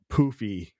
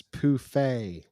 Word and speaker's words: Poofay: Well, and then there's also I've heard some rumors about Poofy. It's Poofay. Say his name right.